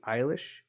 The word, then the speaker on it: Eilish: this time to Billy Eilish it's how you pronounce it I thought it was Elish at first but it's e ili SH so Billy Eilish everything